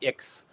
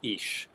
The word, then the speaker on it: ix: For example, here we have what is known as the ish sign. This X is pronounced like an sh, and that's an old Spanish custom.